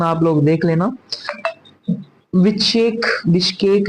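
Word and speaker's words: Bishkek: Kyrgyzstan की बात की जाए तो किर्गिस्तान की विचेक, विचकेक, अच्छा प्रोनाउंसिएशन आप लोग देख लेना। विचेक, बिश्केक जो है जहां की कैपिटल है, और सोम जहां पे करेंसी जो है वो चलती है।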